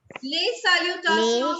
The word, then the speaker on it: les salutations: Les salutations Les means salutations. very nice. Les It means salutations. station. We leave S silent in the end.